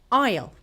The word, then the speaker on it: aisle: In this case, we do not say s sound and we just skip it like aisle.